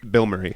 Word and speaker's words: Bilmuri: this is the band Bilmuri. There's a band. It's spelled. Yeah, you've been about this guy for a while, huh? Bilmuri. Yeah, Bilmuri. Bill Murray.